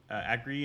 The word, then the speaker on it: Agri: name is angry uh you pronounce it like agree and and i agree